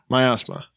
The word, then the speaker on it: miasma: Miasma. It's almost like my asthma.